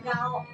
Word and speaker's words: gauk: Gauk itu bahasa Sintang. Bahasa gauk. Ga gauk sebenarnya. Heeh. Ini bacanya gao.